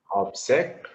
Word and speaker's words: object: Object, object, What happens is object. Ob has a stress.